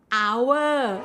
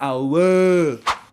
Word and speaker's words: hour: not snake snake snake hour oh this one again again I hate this word it's like hour like Power Hour not not our be what's that beach